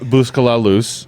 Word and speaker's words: Busca La Luz: a lot here so so let's talk about buscala loose and how did I say it right again